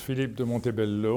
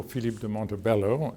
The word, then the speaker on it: Philippe de Montebello: Mi nombre es Philippe de Montebello, o Philippe de Montebello en inglés, la pronunciación inglesa.